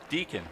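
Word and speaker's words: Deakon: first redness I'm like how in the heck do you pronounce that it's d-e-a-k-o-n I was like oh a deacon okay I get it but he drops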